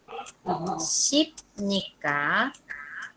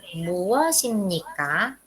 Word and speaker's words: 무엇입니까: Entonces aquí va a leer 무엇입니까? ¿Ok? Aquí se va a leer así. 무엇입니까? 무엇입니까? Es decir, que este shiot que está el bachim bien, esta que está abajo, ustedes van a leer aquí.